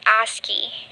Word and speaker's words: ASCII: They call it ASCII as a pronunciation.